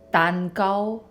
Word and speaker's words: 煎餃: And then in Toisan, it's 蛋糕. No. Yeah. 蛋糕, 蛋糕. I wanted to show you guys how to pronounce those words in different dialects so you